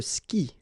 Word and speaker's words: skie: And it's exactly the same rule, so you've got this after, but then clearly you don't pronounce it, okay? Elle joue. And then, je skie, okay?